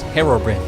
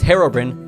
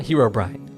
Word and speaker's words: Herobrine: someone at Mojang told him that it is pronounced Herobrin an official Mojang employee saying that is enough